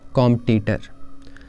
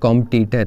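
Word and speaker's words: competitor: Next is कॉम्पिटिटर। अब आज के टाइम पे ज़्यादातर स्टूडेंट्स तैयारी करते हैं कॉम्पिटिटिव एग्ज़ाम की, तो हम बोलते हैं वो मेरा कॉम्पिटिटर है, बल्कि ये गलत प्रोनाउंसिएशन है। Correct is कम्पेटिटर।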